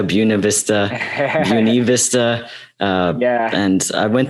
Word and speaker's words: Buena Vista: to ask later which is how do you pronounce buena vista buena vista vista yeah and i went there over the